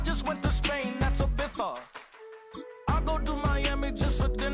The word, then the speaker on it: Ibiza: I just went to Spain, that's Ibiza. Ibiza. Yeah, it's pronounced Ibiza, actually.